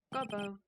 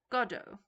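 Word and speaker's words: Godot: It's not Gobbo, it's Goddo. So it is Goddo. Okay, so that's a good way of teaching me how to say it properly. Goddo. So it's like Gal Gadot.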